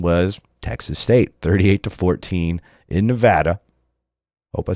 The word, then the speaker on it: Nevada: so I want to remember it but yeah Nevada that's that's what I'm gonna go with Nevada so shout out shout out to the wolf